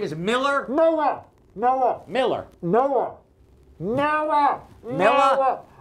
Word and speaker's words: Noah: Noah, as in Noah's Ark. Noah. Wait, now say it. Don't touch my person. I can't understand what you're saying. I'm being very clear. His name is Miller? Noah.